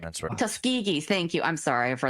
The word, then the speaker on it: Tuskegee: on humans are usually black Americans like the Tusk Tuskiggee experiment and what have you. Tuskegee. Thank you. I'm sorry for the pronunciation.